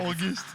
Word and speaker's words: Auguste: it's where by the way it's okay it's pronounced orgy's orchestra yeah august it's french so ethan gave you august yeah